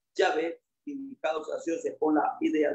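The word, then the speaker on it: Yahweh: Los hebraístas han llegado al acuerdo general de que la pronunciación original debe haber sido Yahé indicado sacia con la idea de ser o existente.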